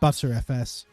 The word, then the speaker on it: Btrfs: I think it's meant to be pronounced better FS, but I've heard quite a few people call it butter FS.